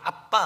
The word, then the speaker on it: 아빠: 선교사가 영국 사람이다 보니까 아바 아버지는 그대로 우리가 썼는데 정확한 발음이 아빠 아버지입니다 하나님 우리를 아바 아버지를